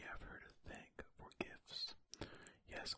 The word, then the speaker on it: GIFs: So we have her to thank for GIFs. Yes, I am a hard G in GIFs.